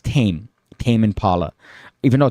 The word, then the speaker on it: Tame Impala: pronounced Tame Impala and both times it's like Lion taming but they say te Mei for some reason no that's a loser if they say tame it's tame Tame Impala even though it's one